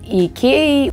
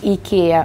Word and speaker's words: IKEA: То же самое история происходит с IKEA. У вас это произносится IKEA, в Америке это произносится IKEA, так как грамматически первая буква в слове произносится I, и меня тоже постоянно исправляют, что я говорю неправильно.